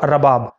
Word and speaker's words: رباب: Number تین پر نام ہے رباب، را کے اوپر زبر کے ساتھ رباب.